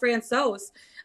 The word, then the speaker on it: Francouz: Is Francouz, how do you pronounce his last name? Francouz? Francouz.